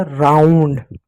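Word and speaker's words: round: आर ओ यू एन डी। आर को क्या पढ़ोगे? र पढ़ो। ओ यू को आउ। आ प्लस ओ की मात्रा एन और डी दो कांसोनेंट का एक साथ है। पहले वाले कोसोनेंट का आधा और बादल का अंश को का पूरा तो हो गया राउंड।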